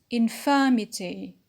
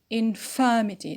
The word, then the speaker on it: infirmity: the noun the arrived noun is infirmity infirmity so the stress is on the anti-penal just before it next word uniform uniform